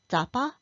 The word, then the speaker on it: Drapa: In Chinese, it is termed Drapa, pronounced as Zapa in Sichuan Mandarin.